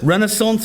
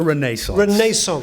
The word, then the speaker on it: Renaissance: You going for Renaissance or Renaissance?